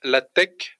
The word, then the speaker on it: LaTeX: Ça s'écrit LaTeX, LATEX, mais ça se prononce LaTeX parce que donc c'est du grec et donc le X c'est du grec en tout cas.